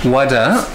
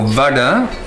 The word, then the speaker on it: vada: The next dish is called vada or vada, if you want to pronounce it correctly.